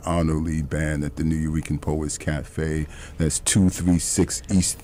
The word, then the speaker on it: Nuyorican: Tonight is the Arnold Lee Band at the New Eurekan Poets Cafe.